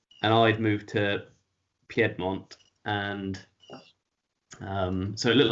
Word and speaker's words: Piedmont: For us, it's just Piedmont, not Piedmont.